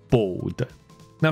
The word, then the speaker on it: bold: BOLD是粗的意思吗？他的意思是大胆，OK，是说翻大胆，大概真的翻得过去哦。所以，而且那个大胆是那种，勇敢尝试的那种大胆，或者就是说不怕冒犯人的之类的那种大胆，这样子，OK。所以我说了一个言论，然后会被人家认为说，哦，你竟然敢这样子讲，That's a bold statement，会这样说。好，所以刚先念一次给你听了，这个字念作 bold。那 B A L D 秃头怎么念呢？Bald。他说啊，差别在哪里？好，我们把它详细更讲清楚一点点。其实我自己想过之后，前面这一个大胆的这个发音哈，你可以把它简化成先讲出年纪大那个老那个字，这个应该好念得多。它的发音就是 old，所以很明显的那个